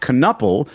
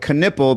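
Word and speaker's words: Knueppel: I spent the whole time complaining about the last name thinking it should be spelled or pronounced canuple because that's how it's spelled. So they're going with Canipple, but I never even thought about the first name being the one that's entirely wrong.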